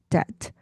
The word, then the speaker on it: debt: 그래서 첫 번째 나온 단어가 우리가 debt라고 썼지만 사실은 b가 발음이 안 난다. 그래서 debt 이렇게 발음이 됩니다.